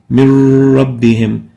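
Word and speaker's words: من ربهم: So pronounced as min rabbihim, but still written as a noon and a ra. But we pronounce it as if there is no noon.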